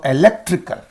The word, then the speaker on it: electrical: So what is the syllable preceding the suffix means? This one lek. So electrical. Electric, electrical.